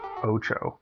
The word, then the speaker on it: OTXO: powerups in between oo it says it's pronounced oo um all right well